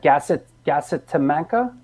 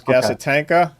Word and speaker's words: Gasitanka: Gasitamanka? Oh no, you're thinking that was the last FU's album. That was Gasitanka. Gasitanka was actually like Casablanca, right?